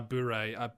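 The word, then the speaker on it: bourré: called what uh oh sorry it's called uh boore so that's spelt i'll put this in slack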